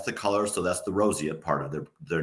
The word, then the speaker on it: roseate: Now, I want to make sure that I'm pronouncing this particular bird's name correctly. Is it roseate? Roseate.